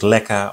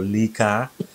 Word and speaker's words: LECA: But you can use leca or lica, depends on where you're living, how it's pronounced.